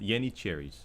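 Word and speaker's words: Yeniçeri: In Turkish, they're called Yenicheris. That's right. Yenicheri. That's the correct pronunciation.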